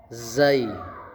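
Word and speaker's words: زاي: Nah, tapi kalau ini za pakai Z. Jadi seperti ee zebra gitu ya.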